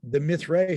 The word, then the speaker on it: Mithraea: I don't even know if I'm pronouncing that right. It's Mithraea.